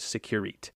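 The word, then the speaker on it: sécurité: from the French word securite. So a conventional... You nailed the Italian earlier. You could work on the French pronunciation. I'm not French. Securite. Secu.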